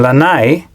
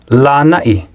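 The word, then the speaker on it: Lānaʻi: For example, in the two island names often mispronounced as Molokai and Lanai, there should actually be okina. They should be pronounced Molokai and Lanai.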